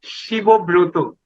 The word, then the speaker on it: Shibabrata: yep, and I am pronounced Shibobroto. Shibobroto. SHIBABRATA.